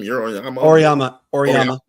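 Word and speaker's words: Auriemma: Oriyama.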